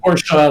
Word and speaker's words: Portia: I spell it with a T. I'm gonna do something really. TIA, not Porsche like the car. But Porsche. Well, just Portia, like Portia.